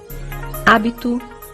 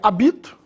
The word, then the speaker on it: hábito: as palavras proparoxítonas abaixo hábito habitat déficit subjudice açúcares hábito agudo no a senão eu leria abito ele é proparoxítona sílaba tônica é a anti penúltima hábitat aqui temos um